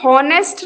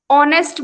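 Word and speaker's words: honest: For example, an ऑनेस्ट मैन, यहां पे हॉनेस्ट नहीं बोलेंगे, ऑनेस्ट बोलेंगे, ठीक है, क्योंकि एच यहाँ पे साइलेंट है और सिंगुलर भी है और वॉवेल की साउंड भी आ रही है, तो एन लगाएंगे।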